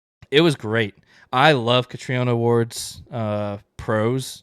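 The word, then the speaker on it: Catriona: Actually, so she it's pronounced Katriona in her interviews.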